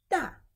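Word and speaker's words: 大: It is da.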